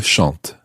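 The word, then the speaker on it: chantent: l l e s c h n el shant okay let's go through the whole of this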